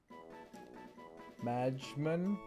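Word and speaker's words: Majmun: It's pronounced like your moon by the way.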